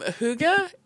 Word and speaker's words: hygge: Um Huga is it's spelled H Y G. And yes, I know it's absolutely nowhere near what it sounds like.